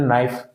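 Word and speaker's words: knife: इसी तरीके से आपने नाइफ का उच्चारण में के का उच्चारण नहीं करते, नो, ठीक है, इसमें भी के का उच्चारण नहीं करते।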